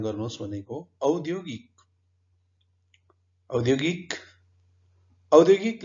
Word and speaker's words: औद्योगिक: अविश्रान्त, यसको बनोट कस्तो छ भनेर उच्चारण गर्नुहोस् भनेको औद्योगिक, औद्योगिक, औद्योगिक लेख्दाखेरि क पुरा अक्षर छ, तर बोल्दाखेरि औद्योगिक 3 अक्षर मात्रै हुन्छ।